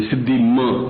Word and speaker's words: सिद्धि: सिद्धि देही नम इसम एक थोड़ र ग सिद्धि बिंदी होनी चाहिए सिद्धि ऐसा बोलना है सिद्धि सिद्धि लिखा सिद्धि